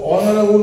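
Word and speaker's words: honorable: সেখানে লিখবো an honest boy ঠিক তারপর লিখবো অনারেবল ম্যান সম্মানীয় ব্যক্তি তাহলে একজন সম্মানীয় ব্যক্তির ইংরেজি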